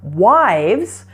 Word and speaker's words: wives: So if you're talking about 2, 3, or more wives, you're actually going to change the F to a V. The V is a voiced sound, so the S ending will be pronounced as a Z.